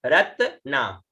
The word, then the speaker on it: रत्ना: ठीक है, तो रत्ना, ठीक है, रत्ना, र त और न है इसके साथ में, त के साथ में न भी है देखिएगा, और आ की मात्रा है तो यह उच्चारण हुआ रत्ना, रत्ना, रत्ना, त आधा और फिर न पूरा, रत्ना, रत्ना।